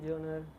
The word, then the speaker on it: genre: The comedy genre. It's genre, actually. Yeah, ma'am. Though we spell it as GNER.